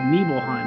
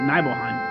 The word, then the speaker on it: Nibelheim: It's Nibelheim, not Nibelheim.